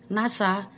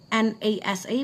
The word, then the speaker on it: NASA: It's not called N A S A, but it's called NASA.